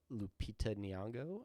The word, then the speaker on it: Lupita Nyong'o: But yeah, so then he moves on and it has the hots for the kindergarten teacher, played by Lupita Nyong'o, I think Yeah, is how that's yeah, pronounced.